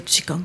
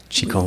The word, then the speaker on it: Qigong: Qi, ça s'écrit Q-I, d'accord? Et ça veut dire énergie, souffle, force de vie. Et Kong, ça s'écrit G-O-N-G.